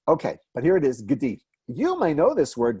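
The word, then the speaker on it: גדי: This is the word gdi, and that is called a shva, and it indicates, in many cases, a little half vowel.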